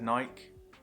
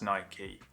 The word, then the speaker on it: Nike: weird saying that because in the UK we say like I've always said Nike and sort of been told I'm pronouncing it wrong I know now that it is Nike I'm not gonna change but I know now obviously because Nike is the Greek goddess a victory one thing that made